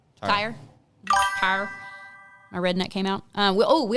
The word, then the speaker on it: Tyr: Tier Tire, TYR. I just don't want to pronounce it incorrectly. TYR. TYR. Tire.